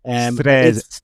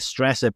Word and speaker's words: Stresa: And the name of the place that I won't pronounce because I was told indefinitely that uh I was pronouncing it wrong by by our Italian host here. It's Stresa. Stresa. I was calling it Stresa, but that's only because I went on Wikipedia there.